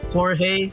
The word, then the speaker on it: Jorge: Yeah, cuz it's like I think his name is pronounced Jorge. So, it's like Jorge. I keep I keep pronouncing it as George.